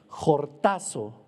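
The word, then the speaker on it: χορτάζω: La palabra saciados en esta bienaventuranza viene del griego jortazo, con J, acento en la A y Z. Jortazo.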